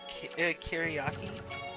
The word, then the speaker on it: Kyriaki: Kiriaki? Yes. Yes. They're named after the Greek days of the week.